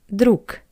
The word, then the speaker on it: друг: At the end of this word, we see the letter G, друг, but we pronounce it as друг, друг. And the reason is that the voiced consonant G at the end of the word is read as a pair to it voiceless consonant K.